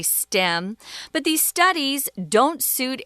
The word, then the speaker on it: STEM: are stem degrees and we don't spell that out guys you have to say stem because if you say ste em people in America at least won't know what you're talking about so learn to say